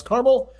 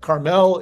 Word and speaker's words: Carmel: We did learn today how to correctly pronounce Carmel. If you happen to be east of the Mississippi, and Carmel, if you're west of the Mississippi.